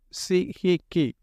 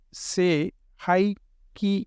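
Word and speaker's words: Sei He Ki: இந்த இரண்டாவது புனித சின்னம் தி second சாக்ரேட் symbol சி ஹி கி எவ்வாறாக உச்சரிக்கப்பட வேண்டுமென்றால் சே ஹை கி என்று உச்சரிக்கப்பட வேண்டும்.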